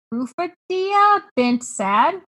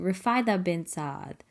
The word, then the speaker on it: Rufaida bint Saad: It is Rufadia bint Saad. Hi, everyone. This is Alesha. The way Charlotte meant to pronounce her name was something closer to Rufaida bint Saad, but I might not be correct either.